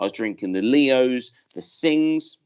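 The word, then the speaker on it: Singha: drinking the Leos the Singh's people mispronounce it a singer but actually it's a sing and they're all a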